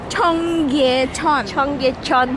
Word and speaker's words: Cheonggyecheon: IT's hard to pronounce lol Chom.. Cheonggyecheon Stream!